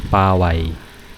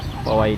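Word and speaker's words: Paoay: Ayun, paluwas na kami ng Sand Dunes, Paway Sand Dunes. Paway, hindi Paway, sabi ng mga lokal. Yun yung tamang pronunciation.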